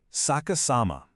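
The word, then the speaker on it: 逆さま: Section two, Saka Sama, a language in reverse. To really understand this, we need to learn a brilliant Japanese word, sakas sama, pronounced saka sama.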